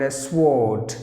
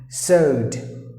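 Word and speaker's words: sword: of the years or speakers would pronounce the word s ward but there are two silent letters in the word so you have to pronounce the word as sowed sowed just imagine if you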